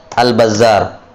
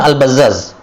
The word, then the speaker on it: Al-Bazzaz: Dia kira semua yang seperti ini bacanya Al-Bazzar. Nah, pas dia dapat sanad seperti itu, dia bilang ini kayaknya salah, ini titiknya salah. Yang benarnya adalah Al-Bazzar. Padahal yang benarnya memang Al-Bazzaz.